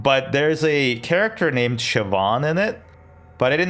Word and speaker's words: Siobhan: Um, but there's a character named Siobhan in it, but I didn't know how to pronounce Siobhan. So, every time I read it, it was like Seoban, and I'm like, hm, is this character from like Asia?